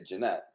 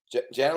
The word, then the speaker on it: Janet: Did I say it right? No, I didn't say Jeanette. Janet Lynn Hubbard.